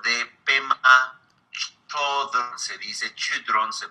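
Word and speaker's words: Chödrön: Y también el libro de Pema Chodron, se dice Chodron, se pronuncia, famoso libro, Cuando todo se derrumba.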